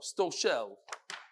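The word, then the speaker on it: Stoshel: Avi is pronounced sto like stove and shell like cello. Sto shell.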